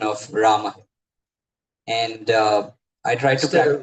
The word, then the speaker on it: Rama: Maharaj, last visit, you taught me this proper pronunciation of Rama. And I tried to practice. Instead of Ramo, right?